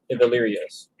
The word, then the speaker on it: Ilvelyria's: No, there is an actual pronunciation guide. Ilvelyria's.